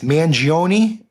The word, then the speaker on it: Mangione: I think it's Mangione. Is that, we assume that's the pronunciation here?